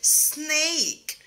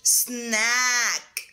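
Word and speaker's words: snake: طب حرف الاي ما تنطقش ليه في الآخر؟ عشان عمل اسمه الماجيك اي، هو مش بيتنطق ولكن بيخلي الاي بتتنطق اي اي، ولكن في الحقيقة ان الاي ميك ذا ساوند اوف ا، يعني لو ما فيش الاي دي هننطقها سناك.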